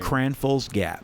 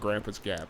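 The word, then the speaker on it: Cranfills Gap: Cranfall's Gap. Cranfall's Gap. I was going to call it Grandpa's Gap. A lot of people do.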